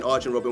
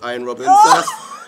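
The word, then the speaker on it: Arjen Robben: any vocabul tle against arjin Robin against Chelsea all right that's a point for em for saying Arin Robin when it's iron Robin that's four that's four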